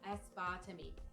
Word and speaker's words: aspartame: have a lot of artificial sweeteners aspartame or as far to me different people like to call it or pronounce it in a different way a Spartan is also